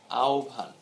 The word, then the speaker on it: আহ্বান: একইভাবে এরকম ভাবে যখন হয় যখন সংযুক্ত থাকবে, তখন খেয়াল রাখবে যে আহ্বান, যেটিকে আমরা আহ্বান বলছি, এটি প্রকৃত উচ্চারণ হচ্ছে আহ্বান।